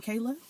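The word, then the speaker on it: Kailah: To the new subscribers, I am Kayla. To the old subscribers, I'm still Kayla.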